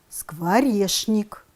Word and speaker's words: скворечник: а произносим я яичница пишем скворечник произносим скворешник со многими из того